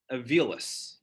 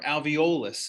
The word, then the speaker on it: alveolus: known as alveoli or singular is avilis or alveolus i've heard both pronunciations i don't care which